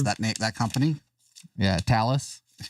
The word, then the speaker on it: Thales: Yeah, Talus. It's like Dallas with a T. Yeah. Everyone says Thales or Thales or OpenSpot connected to Brandmeister server.